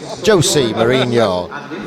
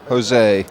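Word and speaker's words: José Mourinho: Jose Mourinho. How they? Sorry, I can't do. I mean, how do you say that? Jose. You got to have a lisp in it. It's Spanish, isn't it, or Portuguese?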